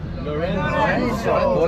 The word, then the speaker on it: Lorenzo: You have to say it like an Italian. Lorenzo.